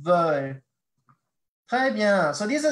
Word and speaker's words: veulent: And you remember the ENT, you don't pronounce that in French. It's just veulent.